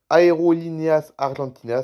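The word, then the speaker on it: Aerolíneas Argentinas: Aeroline 1 comment ça se prononce ? Aérolineas Argentinas très bien.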